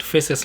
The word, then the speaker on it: FACES: You go to the website, FACES, like I'm pronouncing it, F-A-C-E-S, FACES. I'll put the link below of their website.